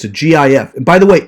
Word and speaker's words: GIF: not a it's a gif by the way it's pronounced gif not jif because the g of the gif is the word graphic so obviously it's gif